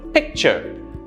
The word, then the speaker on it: picture: Remember, for nouns, the first syllable is stressed. So, picture, picture. Notice how the ch bottoms down. It's softer. Picture.